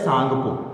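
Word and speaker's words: Tsangpo: इसको बोला जाता है सांगपो ठीक है टी साइलेंट है इसमें तो इसको सालों को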